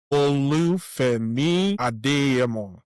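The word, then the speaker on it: Olu Adeyemo: So, the full breakdown of my name is Olu Ado. So that's the full pronunciation of my name, but I go by Olu for easy pronunciation for people.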